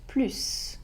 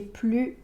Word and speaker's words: plus: Mais si la comparaison porte sur un adverbe ou un adjectif, là, on ne prononce pas le S. Paul est plus gentil que Pierre.